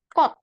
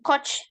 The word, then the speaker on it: 꽃: Nah, bunga kalau ada ca dia di bawah dibaca T jadi kot. Ya, kot, bukan coach, bukan.